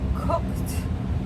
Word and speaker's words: cooked: I say I cooked last night. Cooked. So, we have the KT cooked last night.